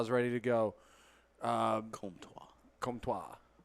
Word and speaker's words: Comtois: He doesn't French? even spell it like that. Yeah, very French. What gave it away? The Trois. So it's It's either the le or the trois or the wah.